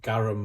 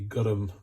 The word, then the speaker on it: garam: Now, it's not garam masala as a lot of people pronounce it. It's actually garam, like with a U, minor point, but that's how it should be called.